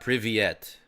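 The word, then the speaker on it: Привет: It's pronounced like Privyet.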